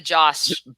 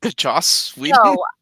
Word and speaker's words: Joss: are you drinking two jack he means the joss whedon he means the josh joss i wouldn't give justice league a 10 out